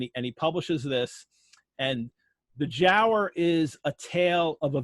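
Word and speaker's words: Giaour: the jower and it's it's spelled g a o Ur as far as we can tell Byron and Company probably pronounced it Jer um it's it's you know there's debate whether it's a hard G or a soft G it seems to be Jer in that time and the jower was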